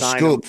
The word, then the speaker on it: Schoep: how do you spell Scoop? Because that's a new one for everybody. No one's going to get that one. Okay. How do you spell it? SCHOEP.